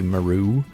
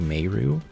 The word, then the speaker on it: Meru: are like um meru I'm sure some people would say Maru but it's actually meru hassle could be pronounced